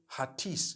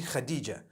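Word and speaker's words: Hatice: across the name Khadijah in Turkish some people spell it h a t i c e I would say hatis for that no it's actually Khadija in Turkish that's the way they write it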